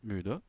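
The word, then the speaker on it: müde: ISIN MU mu de MU de MU de fatigué donc on prononce toujours le E à la fin mu de on hab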